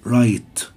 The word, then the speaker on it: right: هنا right، light، الجي اتش لا تنطق، فالجي اتش هنا silent. right، light.